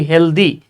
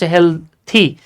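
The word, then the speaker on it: healthy: যদি টিএইচ ওয়াই থাকে যেমন হেলথি আমরা বলি হেলদি হেলদি না উচ্চারণ হেলথি তারপরে লেনদি আমরা বলি লেনদি আসলে লেন্দি না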